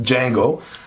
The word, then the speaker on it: Django: not the Django but Django got to keep remembering that the D is silent in that word d Jango right this